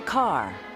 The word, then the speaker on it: Kerr: Mayer declared, Deborah Kerr. It rhymes with star. So she changes it to Kerr.